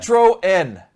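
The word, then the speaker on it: Citroën: of uh feedback on how to properly pronounce Citroen sit throw that's what whim just said I like that Citron in the UK like it matters Citroen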